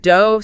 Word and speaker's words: dough: You have rough sounding like uh you have dove sounding like o.